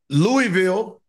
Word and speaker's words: Louisville: Nashville, Louisville, Kentucky. They should have a team in Kentucky. I think they pronounce it Louisville.